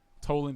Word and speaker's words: Toland: went off this rock Toland his trolling it rhymes with trolling and I really liked